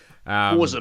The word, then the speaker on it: Forza: Forza, mate.